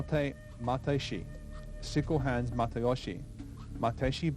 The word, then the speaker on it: Matayoshi: Matayoshi, sickle hands Matayoshi, Matayoshi being the Okinawan pronunciation of the family name.